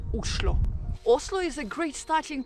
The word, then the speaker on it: Oslo: And actually, in Norwegian, the right way to pronounce the name of the capital is Oslo.